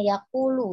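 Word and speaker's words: يقول: ketika membaca arti perkata ma yakullul ya Umi bacanya seperti apa yang diucapkan muadzin sebaiknya ketika perkata maka dibacanya juga sesuai dengan masing-masing lafaznya itu ya katanya yaqulu jadi jangan dibaca sampai lam sukun nanti Al Muazin itu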